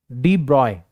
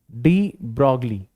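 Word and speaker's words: de Broglie: हम एक साइंटिस्ट थे, इनका नाम था डी ब्रॉय। ठीक है, या अपन हिंदी के अंदर इनको प्रोनाउंस करते हैं डी ब्रॉगली। ठीक है, या फिर डी ब्रॉय भी इनको प्रोनाउंस किया जाता है।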